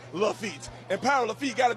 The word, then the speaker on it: Lafitte: Just like pig feet, it rhymes with the Pirate Lafitte.